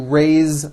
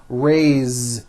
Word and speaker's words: raise: raise meaning like to raise my hand now this word is a bit unusual because even though it is spelled with an S it's pronounced with a voiced Z raise so we say I